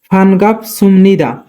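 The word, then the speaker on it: 반갑습니다: কিন্তু এখানে বিউ বাচ্চিমের পরে নিউন থাকার কারণে বিউ উচ্চারণ মিয়মের মতো হবে, তাই উচ্চারণ হবে সুম। ফানগাপ সুমনিদা, মান্নাসা ফানগাপ সুমনিদা দেখা হয়ে খুশি হলাম।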